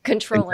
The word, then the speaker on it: comptroller: Controller. Exactly. Yeah. It's spelled comptroller, but pronounced controller.